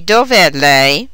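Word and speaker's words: dov'è: an apostrophe is inserted while the single word dove is stressed on the first syllable the combined word dovet is stressed on the last syllable the response to d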